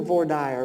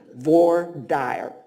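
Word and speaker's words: voir dire: appell court during the V dire which is how we pronounce jury selection in Texas none of this frenchified stuff VOR dire you can say it VOR dire a van member referred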